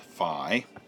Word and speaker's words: phi: Okay, so I looked up the Greek letter here, and that Greek letter is written like that and pronounced phi.